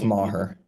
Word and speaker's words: Maher: It's Maher. It's spelled the same.